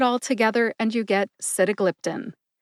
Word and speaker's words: sitagliptin: together and you get sitagliptin emphasize sit and glip glip gets the most emphasis see if you can